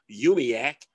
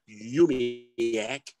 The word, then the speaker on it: UUMUHC: way uh one of our uumuhc members can pronounce yumiak yumiyak wondered by yumiac members craig morrow it will